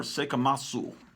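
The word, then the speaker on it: 聖飢魔II: Sekamatu or Sekamasu is how they pronounce it in Japan.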